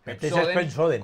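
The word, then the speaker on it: Pepsodent: Dice Pepsoden. No, Pepsoden. Con joden rima Pepsoden.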